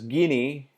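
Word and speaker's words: Gini: I prefer to pronounce it as Guinea. Some other people may pronounce it Guinea Index or Guinea Index.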